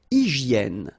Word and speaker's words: hygiène: Une hygiène. So remember, we've got this Y here, vowel, and it's pronounced like E, okay? Hygiène. H doesn't exist, H doesn't exist in French, so hygiène.